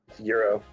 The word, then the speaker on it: gyro: pronounce the greek sandwich euro well it's there's more of a pronunciation to it than europe but it's closer to euro than gyro possibly want to ask